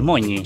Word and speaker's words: Mogni: A ver, la pronunciación correcta es Moñi. Moñi. Pero normalmente me dicen Mogni, es más fácil.